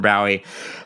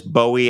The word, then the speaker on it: Bowie: But whenever I step off the plane in England and I go to customs, they are always, hello, Mr. Bowie, welcome to the United Kingdom. They get it right immediately. Mm-hmm. And here it's always Bowie, unless I'm in the South, in which case they say Bowie.